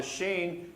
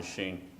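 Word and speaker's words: ש: The sheen can sound like sh or s.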